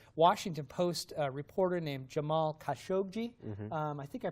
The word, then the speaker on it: Khashoggi: murder of a Washington Post reporter named Jamal Khashoggi. Mm-hmm. I think I pronounced that right, Khashoggi.